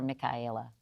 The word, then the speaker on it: Michaela: Which do you prefer, Michaela or Michaela? Either is fine, but the correct pronunciation is Michaela.